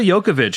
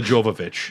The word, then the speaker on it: Jovovich: Mila Jokovic as Alice. I love your Jokovic. To me, it's I've heard Mila Jovovich.